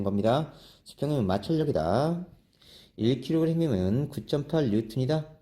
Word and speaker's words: 뉴턴: 1kg이면 9.8 뉴턴이다. 자, 여기서 봅시다. 수직힘, 중력 또는 무게다. 자, F는 mg 9.8m 이렇게 되네요. 힘의 단위 뉴턴이라고 읽어야 돼요.